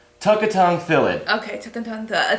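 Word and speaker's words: Tukatongue Thallid: It's pronounced Tukatang Thalid.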